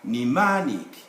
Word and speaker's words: mnemonic: so on letter m there is only one case of silent m and this is in the entry spelled like this but pronounced like that mnemonic americans long are mnemonic